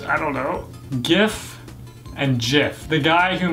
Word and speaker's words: GIF: jiff rather than gif it's a hard G not a soft G and my biggest one